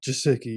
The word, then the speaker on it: Gesicki: Mike Gesicki, yeah.